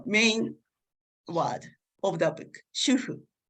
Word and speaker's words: shufu: And the main word of the book, shufu. So the book, the author uses the romanization S-H-U-F-U, but I use S-H-U-H-U here because this romanization is closer to Japanese pronunciation.